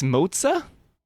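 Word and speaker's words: Moze: I've been saying it wrong this whole time. There are no more questions. Shall we get this started? It's Moza.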